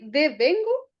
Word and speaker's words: devengo: y también cierto Pamela pero se pronuncia así de vengo de vengo devengo contable el deo contable como como como que te vengo a contar devengo es devengo devengo